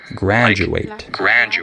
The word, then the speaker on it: graduate: Also, certain letter combinations, like the TU, can be pronounced chu sometimes, like situation, and DU can be with a j sound, like graduate. Okay?